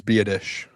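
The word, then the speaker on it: Biadasz: I looked up how to pronounce his name. It's Biadish.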